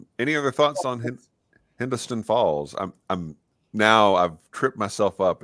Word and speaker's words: Hindostan Falls: Any other thoughts on Hindostan Falls? I've tripped myself up in how to pronounce it.